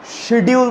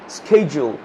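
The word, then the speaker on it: schedule: আমার বলছে শিডিউল বলি না, আমার শিডিউল ফাঁকা নেই, এটা কিন্তু উচ্চারণটা অ্যাকচুয়ালি শিডিউল না, স্কেজুল, এটা উচ্চারণ অ্যাকচুয়ালি স্কেজুল, এটা হচ্ছে প্রোনাউন্সিয়েশন।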